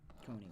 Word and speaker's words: Coney: Coney, like Coney Island.